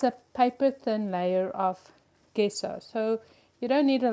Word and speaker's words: gesso: and she's like, "Mom, it's called gesso." And I'm like, "No, it's gesso. Maybe it's just because I grew up in South Africa and the G is a hard G sound."